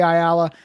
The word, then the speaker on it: Ayala: hundred different ways um i say ayala i don't know if that's wrong i've been told that that is correct um but you know